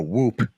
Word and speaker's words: Whoop: You don't pronounce the H? No, that's too. I feel like that's too on the nose.